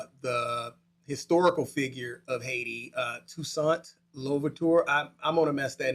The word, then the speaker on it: Toussaint Louverture: slave owners, and the historical figure of Haiti, Toussaint Louverture.